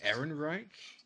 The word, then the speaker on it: Ehrenreich: Also, I think it's Aldrin Ehrenreich. Yeah, that's it. That's how you pronounce his name.